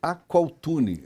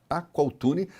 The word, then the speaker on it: Aqualtune: coluni é interessante que escreve se aqualtune faz coluna aqualtune mas fala se a4l A4 a pronúncia é quase 1l mudo é quase 1l mudo